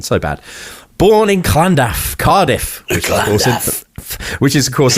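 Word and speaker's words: Llandaff: Uh, so born in in Landaflland. Oh, I'm so sorry. Let me do that again. Me and my Welsh pronunciation so bad. Born in Klandaf, Cardiff, which is of course in the south of Wales.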